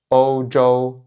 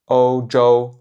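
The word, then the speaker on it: 欧洲: Donc l'Europe en chinois ça se dit ōu zhōu ōu zhōu ōu zhōu Donc ici deux fois le premier ton.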